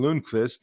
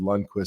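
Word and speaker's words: Lundkvist: wanted lonquist uh and so I was saying lonquist and then people asked why you know team officials were saying why are you saying lonquist and I said that's how he said his name's pronounced um and they went and checked they went and checked with him and he said you know in North America it's probably easier to go with Lundquist so that's fine so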